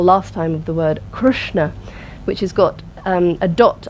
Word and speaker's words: Krishna: s and the N which means that it's a pronounced with the tongue pointing towards the roof of the mouth Krishna try that so it's not pronounced Krishna let's try that Krishna which has got an eye in it there's no eyes of course you'll feel